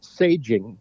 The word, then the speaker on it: Saging: It's saging. Saging. Okay, gotcha. Saging, not aging.